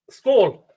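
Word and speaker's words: skål: Skull.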